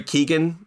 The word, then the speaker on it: Keoghan: Some of the highlights for me, I thought, is it Barry Keoghan? Is that how you pronounce his last name?